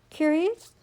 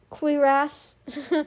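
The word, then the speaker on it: cuirass: passed over his double curious. is that's not how you pronounce it. This is some kind of clasp or clothing and I want to make sure I say it right. quiras.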